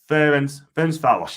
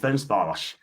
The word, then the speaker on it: Ferencváros: Ferencváros, pronounce it is Ferencváros. That's it, Ferencváros.